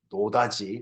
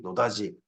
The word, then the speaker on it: 노다지: 금이 발견 되지면 아 노터치 노터치 노 터치인데 우리나라 사람들이 그걸 갖다가 아 좀 더 부드럽게 발음하는 걸 들려가 노 노다지 노다지 이렇게 들려 지금 노다지가 노다지가 뭐